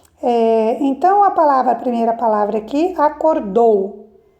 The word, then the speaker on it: acordou: Então, a primeira palavra aqui, acordou. Acordou, a sílaba tônica está na última sílaba, o dou.